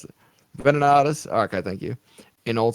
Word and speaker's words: Venenatus: pronounce it. Venenatus.